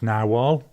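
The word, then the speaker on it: Narwhal: a year ago where they said that it's pronounced narwal my problem is if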